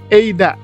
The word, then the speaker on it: Eida: lagi kalau teman-teman bingung eida ini sebenarnya penulisannya Bagaimana penulisannya tetap a alias ada tapi dibacanya eida jadi gak usah bingung namanya eida atau ada sama saja oke di sini disebutkan